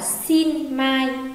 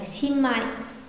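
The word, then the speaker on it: しんまい: Còn khi đứng trước, tức là đứng sau ẩn là chữ ma thì luôn luôn biến chữ ẩn thành M gần như là như vậy. Chúng ta có đọc từ này cũng không đọc là xin mai mà đọc thành xin mai, xin mai.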